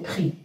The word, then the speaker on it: prix: Je ne vais pas dire prix, c'est prix. On ne prononce pas le X à la fin.